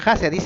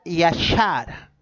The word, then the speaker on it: Yashar: Pero ese libro en realidad en el hebreo no dice Haser, se pronuncia Yashar.